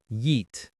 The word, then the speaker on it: yeet: The pronunciation is just one syllable and it has a long e sound. Yeet.